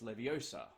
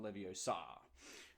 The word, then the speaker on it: Leviosa: recite in this in this in this case Leviosa not Leviosa right um you know another problem on a